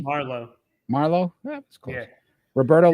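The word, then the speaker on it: Marleau: how we rank them that's Joe thoron Patrick Mero right did I say it correctly Marlo Marlo that was close Roberto l i maybe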